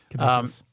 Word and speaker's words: caduceus: Is that how you pronounce it, Joe? Yeah, Caduceus.